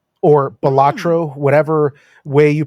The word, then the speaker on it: Balatro: playing Balatro or Hmm. Balatro, whatever way you pronounce it.